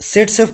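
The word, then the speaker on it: Zaitsev: Actually में इसे सेट सेफ पढ़ा जाता है। इसका जो प्रोनाउंसिएशन है वो सेट सेफ है।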